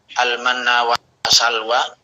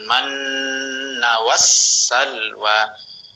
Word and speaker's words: المن والسلوى: Maka kalau al-manna wa salwa, maka ada yang hilang di situ. Makanya mesti bacanya alaikumul manna was salwa. Bedanya ketika nun bertasydid itu ditahan panjangnya 3 harokat, sedangkan wassalwa itu tidak dipanjangkan, tapi diberikan hak untuk dibaca tasdidnya. Ya.